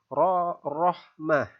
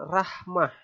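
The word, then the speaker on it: رحمة: berbaris atas cara membacanya huruf ra dibaca tebal dengan bibir sedikit maju akan membacanya ro yang dibaca tebal Rohmah bukan Rahmah ya salah nanti ya kemudian contoh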